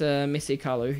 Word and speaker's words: Samesi Kalu: Well, the most active, I think, has been Samesi Kalu. Yeah. Did I pronounce that right? It's Samesi Kalu, yeah.